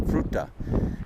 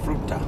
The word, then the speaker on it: Fruita: In fact, we're going to be going through here, and there's a little town called Fruita, I believe is the pronunciation, Fruita.